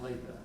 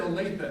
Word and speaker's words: Olathe: I'm like, no, you said Olathe, not Olathe.